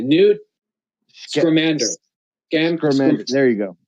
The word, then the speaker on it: Scamander: Scamander. There you go. Scamander.